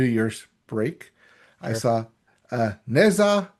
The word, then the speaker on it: Ne Zha: saw Ne Zha 1 and 2, and it is pronounced Ne Zha, not Ne Zha like we thought.